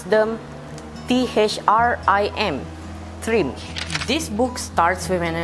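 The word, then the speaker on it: Thrym: We pronounce them T-H-R-I-M, Trim.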